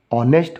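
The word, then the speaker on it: honest: एन का यूज़ करेंगे, क्योंकि इसका जो उच्चारण जो हो रहा है दोस्तों वो ऑनेस्ट हो रहा है, यानी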